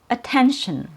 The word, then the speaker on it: attention: So, the first syllable has a schwa sound and it's represented by a letter a. The last syllable also has a schwa sound and it has an sh sound before the schwa. So we make the last syllable with an sh and then a schwa and then an n.